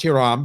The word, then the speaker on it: Hiram: i call him hiram his name is actually pronounced hiram because he's from he's from cuban he has cuban heritage but everybody else he says calls him hire him so call him hiram from hiron's collectibles on